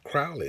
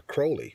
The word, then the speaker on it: Crowley: It says she's the daughter of Aleister Crowley, or Crowley, depending on how, depending on whether you're east or west of the pond, they pronounce it differently.